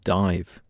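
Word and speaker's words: Daimh: Now, a great album from a couple of years ago was Sula by the band Dive. That's spelled D A I M H.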